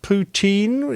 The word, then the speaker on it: poutine: And that's poutine. Is that how you pronounce it?